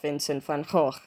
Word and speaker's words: Vincent van Gogh: So I have got this book about Vincent van Gogh. Yes, that is how you pronounce it, sort of, by Carolyn Earle.